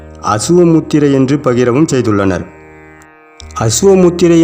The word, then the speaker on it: அசுவ முத்திரை: முத்திரை என்று பகிரவும் செய்துள்ளனர் அசுவ முத்திரை என்பதே காலப்போக்கில் சொல் வழக்கில் உச்சரிப்பு மாற்றம் அடைந்து அஸ்வினி முத்திரை என்று திரிந்துவிட்டது அஸ்வினி முத்திரை என்று வைத்து பொருள் பார்த்தால் அதன் பொருளானது வேறாகத்தான் இருக்கும் ஆக அசுவ முத்திரை என்று சொல்வதே அதன் சரியான உச்சரிப்பாகும் நம் சித்தர் பெருமக்கள் குதிரையை